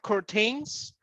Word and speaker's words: curtain: Do you have curtains? Yes, it's understandable. You can say curtain, but again, this is a noun. This is a proper name. So we don't say the word tain. You can say curtain.